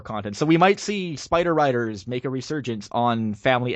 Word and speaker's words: Spider Riders: there's not there's like the title is Spider Riders there's no s after spider like you're you're throwing in an extra letter it's not like Inu Yasha where you can you can understand that mispronunciation but it's Spider Riders not spiders Riders one is a person